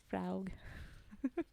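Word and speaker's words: Fraoug: It's spelt F-R-A-O-U-G. Fraug.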